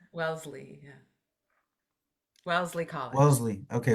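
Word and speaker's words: Wellesley: Welssley. Welssley.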